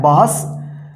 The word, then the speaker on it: बहस: तो यहां पे देखिए बहस कैसे लिखेंगे, ब ह और यहां पे दंत स का उच्चारण हो रहा है, बहस।